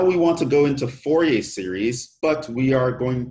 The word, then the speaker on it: Fourier: another French mathematician so his name doesn't necessarily pronounce the way it is spelled so he was a